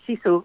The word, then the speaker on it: Sisu: Yeah, yes, you pronounced Sisu absolutely correctly, and it's a 500-year-old national concept that roughly translates to grit, fortitude, perseverance.